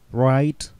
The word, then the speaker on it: write: Write, wrote, written. Писать. Будьте внимательны с произношением, не допускайте ошибки в write. Там не произносится write.